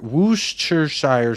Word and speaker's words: Worcestershire: talking to me nicely Worcestershire whoosh Church Shire sauce is the correct pronunciation yeah glad we got